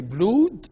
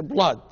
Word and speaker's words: blood: two O's in that we don't say blued we say blood and brew and here